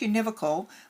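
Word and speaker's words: univocal: The first is uh it's pronounced univocical but you can just see it's just uh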